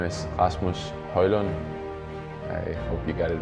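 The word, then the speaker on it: Højlund: Yes, my name is Rasmus Hojlund. I hope you got it right. Great. No. It's you can pronounce however you want.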